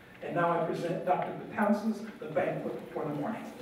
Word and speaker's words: Betances: And my last name is Betances.